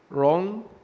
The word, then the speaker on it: wrong: حرف الدبليو في المعتاد بينطق زي حرف الواو واو، لكن لو جه وراه حرف الار حرف الدبليو لا ينطق ويصبح سايلنت في الكلمة، زي كلمة right wrong rab rest.